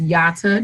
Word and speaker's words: Yata: to remember it yeah my name is yata and it's like yada yada yada yada you know when someone talks right right so they'll